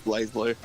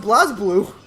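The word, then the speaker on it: BlazBlue: no is it but there's no Evie there's no e in it it's pronounce Blaze blur I've heard people pronounce it Blas blue and they're wrong I just get him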